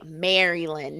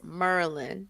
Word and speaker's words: Maryland: me just tell you don't say Maryland no it's Merlin you got to say it like you from here Merlin that's that Canadian accent when when you when you pronounce it like that now it sounds